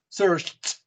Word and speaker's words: searched: Search. Vibration or no vibration? No vibration. Okay. So, how do you pronounce it? Search. T. Searched.